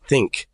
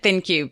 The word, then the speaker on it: ThinQ: I did not know, I always pronounce it think. Like it was like a Q was pronounced as like a C or a K. Maybe, yeah. I've never heard anyone pronounce it before, so I didn't actually know how it was pronounced. I've always said ThinQ, but I could be wrong. Think makes sense too.